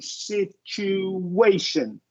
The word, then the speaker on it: situation: vowel after that U, I really want you to emphasize that closing sound in the lax long U, situation.